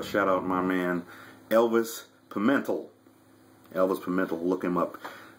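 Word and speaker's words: Pimentel: s p space pental I think I'm um you know pronouncing it right p i m n t l pimental not Pento pementel Elvis Pento man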